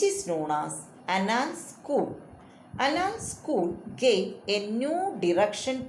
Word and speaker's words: Annales: How to pronounce Annales?